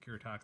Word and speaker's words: Kuretake: I think that's how you pronounce it. Kuretake.